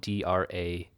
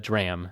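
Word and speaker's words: DRACHM: the drram module but it's spelled d r a c hm so it reads like dra but it's a dram that's how they used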